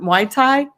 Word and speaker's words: Muay Thai: I cannot pronounce it. Muay Thai.